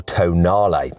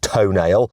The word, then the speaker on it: Tonale: This is the new Alfa Romeo Tonale. Yes, I know it looks like it's pronounced toenail, but it isn't, okay? I checked with some Italians.